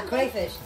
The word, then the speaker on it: crayfish: It's a crayfish. That's how you say it, crayfish.